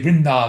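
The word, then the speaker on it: Vrinda: Vinda is spelled V R I N D A. Therefore we say Vinda.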